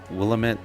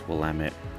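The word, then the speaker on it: Willamette: TT E I believe and it sounds like willit um willit River um that's what a lot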